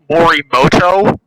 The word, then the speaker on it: Morimoto: Okay, so first off, it's Morimoto. You pronounced it wrong, you uncultured Swear to God.